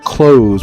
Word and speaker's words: close: Along the Royal Mile, there are plenty of stores and places to go in, but there's also these close, which is pronounced like clos.